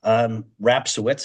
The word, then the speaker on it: Rapsowitz: Rapsowitz is how you pronounce the last name.